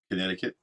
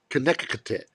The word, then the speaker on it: Connecticut: Walling Walling Ford connec what's my favorite state to say Connecticut Connecticut yeah because it's the way it's spelled it's spelled weird it is so walling